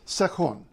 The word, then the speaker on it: Sektion: this is SE seun it looks like section but in Swedish it's seun it means section um